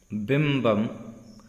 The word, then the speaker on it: बिंबम: विभ्राजते तव वपुः वपुः, यहाँ पे ब का उच्चारण न करके वजन, वपुः कनकावदातम कनकावदातम बिंबम बिंबम, बिंबम नहीं पढ़ना है, यहाँ पे ब पढ़ना है।